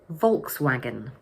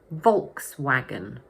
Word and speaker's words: Volkswagen: But in English, we say Volkswagen. So the word has 3 syllables and the first one is stressed. Volkswagen, Volkswagen, Volkswagen.